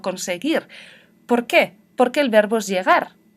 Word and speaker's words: conseguir: Si tengo la E o la I, escribo la G con la U. Esta U no se pronuncia, solo me dice que tengo que pronunciar suave. Yo no digo llegué, sino que digo llegué. Yo no digo conseguir, sino conseguir.